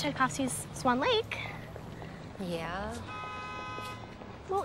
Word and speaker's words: Tchaikovsky: Tchaikovsky. How do you spell that? Chai, as in chai latte.